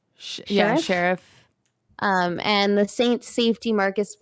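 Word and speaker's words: Scherff: Sheriff? Yeah, Sheriff.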